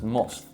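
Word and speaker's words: musth: male they will enter a period known as must during mus that's not me mispronouncing it it's m u s t mus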